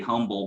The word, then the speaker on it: Humble: Yeah, we learned about that H at that last event we did together, didn't we? It's very difficult when you've been raised your whole life not to pronounce the H in humble and say humble, and then when somebody puts it in front of you, it's very difficult to switch.